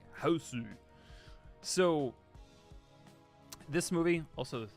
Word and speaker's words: Hausu: B, also known as, I don't know why I say Hausu, it's house, but in Japanese it's Hausu. It just sounds so much cooler, like Hausu.